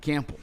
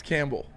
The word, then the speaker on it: Campbell: They pronounce the P in it. Cample. Dan Campbell. Say it. Camp ball. I know. I He goes camp. It's Campbell.